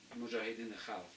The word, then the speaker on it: Mujahideen al-Khalq: That's Mujahideen al-Khalq. That's how you say it in Persian language.